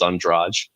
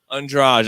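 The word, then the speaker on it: Andrade: that too but but the proper pronunciation is on draj andraj okay what's the odds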